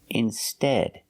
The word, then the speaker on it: instead: Remember the pronunciation. Instead, ed. You're making the short S sound like red and bed.